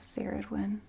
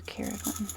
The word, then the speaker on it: Ceridwen: From the Gaelic pantheon, I'm seeing Morrigan, and with her is Ceridwen, goddess of the cauldron, goddess of transformation. Or Ceridwen, I know she has multiple pronunciations.